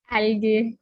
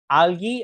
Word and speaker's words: algae: Algae. आलगे। Saumya, what do यू, हाउ डू you pronounce it? Algae only. Algae, okay. By the way, algae is slightly incorrect. It is called algae, ठीक है।